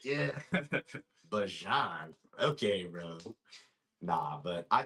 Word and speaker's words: Bijan: had been calling him Bijan since he got in the league. Yeah, it's this past offseason, he came out and said it's actually pronounced Bajan.